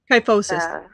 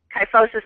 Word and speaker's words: kyphosis: person has a kyos how do you say that uh kyphosis kyphosis okay I was gonna say